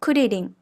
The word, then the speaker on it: クリリン: Be careful when you pronounce the R sound in Japanese. The tip of your tongue lightly touches or flaps the gums behind the back of your front teeth.